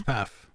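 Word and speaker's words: Pfaff: all part of it her name is kristen my pronouncing is p-f-a-f-f how would you pronounce that i think it's path yeah something like that yeah so she was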